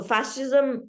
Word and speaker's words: fascism: So if you have heard about Mussolini and his concept of fascism, so fascism with a silent C is there.